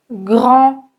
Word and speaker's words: grand: Petit, grand, français. Vous remarquez que je ne prononce ni le T, ni le D, ni le S.